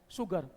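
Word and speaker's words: sugar: शुगर लिखा हुआ है एस, लेकिन प्रोनाउंसिएशन क्या है? शुगर।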